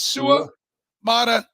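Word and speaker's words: Suamataia: today he's like you gotta break it down into three uh it's sua Maia Su okay I got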